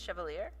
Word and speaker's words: Chevalier: aloud slowly chevalier dumont is it chevalier or cavalier how do you say his name your name is chevalier he looks up at me his eyes forlorn and then with sadness he speaks that's right it is so strange it